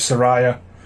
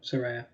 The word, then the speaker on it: Saraya: I put in brackets Sa-Re-Ya to make sure you knew how to pronounce it, because I was certain for years it was Saraya. No, Saraya.